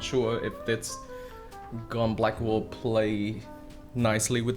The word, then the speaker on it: Geon: This is the Gone Yellow. By the way, I'm gonna start pronounce it as Gone now, not Geon, because that is actually how it's supposed to be pronounced.